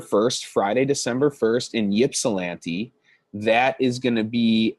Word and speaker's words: Ypsilanti: Pronounce Ip, not Yip. Thank you, Brian. I appreciate that. Ypsilanti.